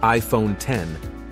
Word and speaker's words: iPhone X: The iPhone X, pronounced iPhone 10, featured a nearly bezel-less OLED screen, Face ID facial recognition technology replacing Touch ID, and a unique notch design.